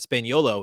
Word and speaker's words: Spagnuolo: matteo spagnuolo um and i pronounced his last name wrong last week so i apologize for that spain yolo is how you say